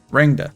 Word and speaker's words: Rangda: Rangda. That's how you pronounce that.